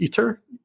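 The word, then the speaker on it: ITER: the biggest project is i believe it's pronounced eater i-t-e-r um that's many multi-national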